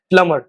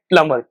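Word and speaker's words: plumber: Next जो word है वो 99% लोग गलत प्रोनाउंस करते हैं क्योंकि वो इसके बी को प्रोनाउंस करते हैं। बी प्रोनाउंस नहीं होता इस वर्ड में। B pronounce this word as प्लमर। आपको बोलना है प्लमर।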